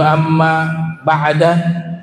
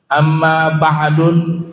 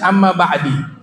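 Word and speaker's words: أما بعد: melafazkan dengan Amma ya Ibnu mulqin menyimpulkan adaemp empat cara bacaan yaitu Amma ba'dan bisa Amma ba'dun bisa Amma ba'da bisa Amma ba'du bisa tapi sepakat yang enggak bisa Amma ba'di Amma ba'di tidak bisa dan pembahasan Amma ba'du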